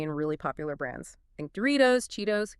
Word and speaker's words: Doritos: Think Doritos, Cheetos, Gatorade. The T is between vowels, so it flaps. Doritos, Cheetos, Gatorade.